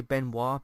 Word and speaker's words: Benoist: Melissa Benoist, I think is how you say her surname, but some people say Benoit, but Benoist, but whatever.